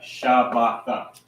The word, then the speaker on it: Shabbat: How would you pronounce that? Knowing that this is a root word by itself. Shabbat. Right, Shabbat. So this word Shabbat means Sabbath or rest.